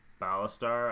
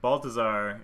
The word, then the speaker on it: Baltazar: For sure the Baltazar, and I keep saying, last time I made a video I kept saying his name wrong. I apologize. I forget what I was saying. I think I was saying Ballastar.